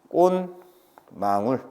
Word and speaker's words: 꽃망울: 발음은 꼭 이렇게 대가를 해줘야 됩니다. 표기는 이렇게 해야 되지. 당연히 맞춤표에 따라서 꽃이 망울, 베트는이라고 해야 되지만 발음은 이렇게 대가로 해서 뱉는, 대가로 해서 꽃망울 이렇게 발음이 난다라는 거.